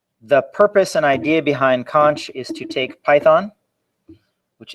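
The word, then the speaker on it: xonsh: talk on conch yeah it's spelled x-o-n-s-h but it's pronounced conch um it is a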